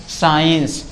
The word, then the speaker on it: science: जैसे अगर एस के बाद कभी भी सी आ जाए, एस के बाद कभी भी सी आ जाए तो सी हमेशा साइलेंट होता है।